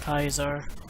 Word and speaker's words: Caesar: a guy gets assassinated Oh Kaiser it's actually pronounced Kaiser oh that guy has a lot more of